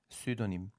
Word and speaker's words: pseudonym: Bu kelimeler İngilizceye geçtiğinde baştaki /p/ sesi düşüyor, telaffuz edilmiyor. Mesela “psychology”; /psaykoloci/ demiyoruz, /saykoloci/ diyoruz. Veya “pseudonym”, yani takma isim, sahte isim”.